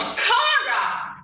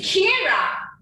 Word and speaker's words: Kira: Instead, she shouted, "It's not Kara, it's Kira.